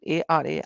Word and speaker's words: Ara: I don't know how to pronounce her name. Ara, right? A-R-A, Ara.